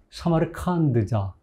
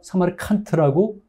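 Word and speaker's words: 사마르칸드: 사마르칸트라는 용어가 틀린다. 사마르 칸드자. 음 정확한 발음이 칸드예요. 음. 음. 근데 우리가 사마리 칸트라고 하는 이유 중에 하나가 뭐냐면 이제 왜냐면 자꾸 그런 오해가 많이 있어요.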